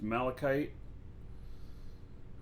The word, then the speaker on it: malachite: It's pronounced Malachite.